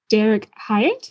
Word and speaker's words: Derik Hyatt: I'm the communications manager at the Canadian Freshwater Alliance, and I'm here with Derik Hyatt.